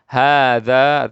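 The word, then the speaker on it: هذا: Hadza artinya ini. Ini haknya tidak panjang, tapi bacanya panjang, tulisannya tidak panjang.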